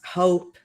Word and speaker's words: hope: This another word, it is pronounced hope. Hope. Como si tuviéramos una OU, hope.